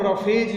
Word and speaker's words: roughage: देखिए, फाइबर को हम रफेज भी कहते हैं. यू कैन see here the spelling ROUGHAGE, रफेज, fibre.